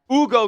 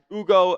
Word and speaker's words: Hugo: He's out there playing a EuroLeague schedule, but Hugo, and it is Hugo, by the way. The H is silent over there in Spain, so that's going to be his, what he's going to be called here.